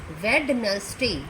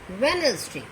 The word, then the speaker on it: Wednesday: D is silent in Wednesday. This is not pronounced as Wednesday. No, it's pronounced as Wednesday.